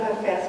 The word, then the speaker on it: Hafiz: It's also pronounced many different ways. And I pronounce it Hafiz because I have a Kurdish friend, and she said her